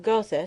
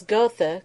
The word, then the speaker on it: Gotha: my Lord Byron and pronounced the name of gotha strictly in accordance with English sound of the letters as gotha goes ye ever verdant places